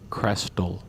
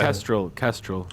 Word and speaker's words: kestrel: to pick the American Crestal. Crestal. I've never heard of this. Yeah, How do you spell that? Kestrel, my bad. Kestrel. Okay, that makes more sense.